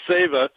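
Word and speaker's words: Seva: about this benefit sa spelled Seeva but it's pronounced SAA is a Sanskrit word that means service to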